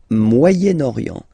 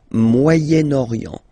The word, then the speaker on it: Moyen-Orient: So it's interesting here because normally if you would have only this word here, you would pronounce it moyen, moyen, okay? But then as you've got this vowel after, okay, you get to make the liaison between the two, le Moyen-Orient, Moyen-Orient, okay?